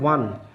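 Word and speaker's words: won: ওয়ান সরাসরি এর উচ্চারণ হবে ওয়ান, হ্যাঁ ও এন ইউর উচ্চারণ যেরকম ওয়ান হয়, এখানে উইন ওয়ান।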